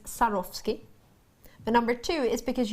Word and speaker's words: Swarovski: Swarovski jewelry number one it's cuz it's pronounced sarosi but number two is